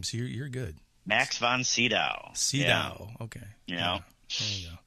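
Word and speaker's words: Sydow: spiderwalk and um and how old max von cedar was i didn't know anything second pronounce his name so you're good max von cedo okay yeah there you go now um you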